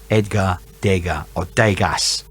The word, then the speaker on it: Edgar Degas: dancers uh and that was edward edgar dega edgar degas if you want to pronounce it that way it's edgar dega um